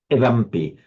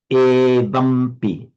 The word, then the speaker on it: evampi: a word like evampi, we have a strong tendency because of the influence of English phonetic to say evampi, to shorten that e. Particularly because we've got a heavy syllable, evampi, but remember, evampi. So never be shy about keeping that e deliberately long, evampi.